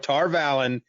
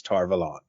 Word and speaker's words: Tar Valon: to be going forward so tar instead of tar valley it's tar velon i'm cool with it i think i think tar valon sounds awesome uh quite honestly